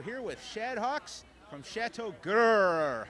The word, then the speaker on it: Chateau Grrr: tell us all about chatau G is that the right way to say it g g yes chat uh we are